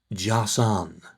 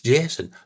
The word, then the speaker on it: Jason: Well, he was called Jason, right? But he said you pronounce it Jassan. What? You know, it's Jason. No, Jassan.